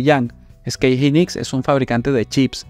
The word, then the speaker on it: SK Hynix: Hay mucha historia detrás de SK Hynix. Algunos lo pronuncian como SK Hynix, pero así fue como se lo escuché al americano, SK Hynix.